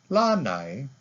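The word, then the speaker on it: Lānaʻi: porch patio or balcony now we add an okina to the word what does that mean can you hear the difference lanai lanai now we're talking about an island so when you're using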